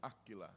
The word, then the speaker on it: Áquila: Se pronuncia Aquila, não Aquila, como estou mencionando eu. Áquila. Aquila, ok. Desculpa, estou mencionando em espanhol.